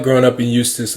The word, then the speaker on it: Eustis: Yeah, Eustis, Florida. It's spelled with an E though, which is interesting. It's silent.